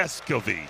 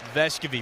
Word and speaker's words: Vescovi: Vescovi. Vescovi. We'll have more on that with Casey Funderburg, but yeah, pronunciation Vescovi, that's what we're going with here.